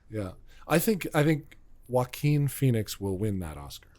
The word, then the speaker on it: Joaquin: I guess Joaquin Phoenix I always say his name is joking walking it's Joaquin Joaquin and then I figure